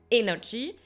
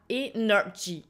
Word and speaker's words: energy: le mot prononcé donc vous avez par exemple le mot énergie en anglais vous avez prononcé la première C là vous allez accentuer energy et pas energy et si vous faites